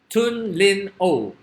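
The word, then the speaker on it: Htun Lin Oo: This is his Tun Lin O. All right, so it's a silent H.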